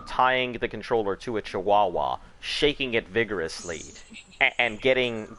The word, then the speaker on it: Chihuahua: myself yep you're welcome yeah again I said jehuahua as a joke and I always think but I just say Chihuahua it's because somebody was like mispronouncing [ __